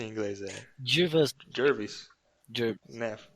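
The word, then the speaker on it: Jervas: Como que é a pronúncia em inglês? Jervis. Né? Jervis.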